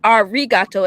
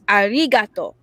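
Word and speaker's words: ありがとう: it wrong it's not our rigato it's arigato with the l so his name in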